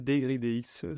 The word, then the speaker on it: dYdX: présenter aussi dydx alors est-ce qu'on le prononce d'ailleurs dydx dydx un peu en français deg DX si on préfère sinon en anglais merci en tout cas